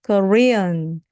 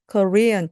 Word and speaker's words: Korean: 하지만 강세를 가운데 넣어서 해주시면 정말 좋습니다. Korean, Korean, 한국의 그리고 restaurant.